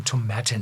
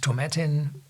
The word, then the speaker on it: Tomatin: whiskey is from The tomatan Distillery and this is pronounced as satin I was learn teached at The Distillery in Scotland and tomatin belonged to the biggest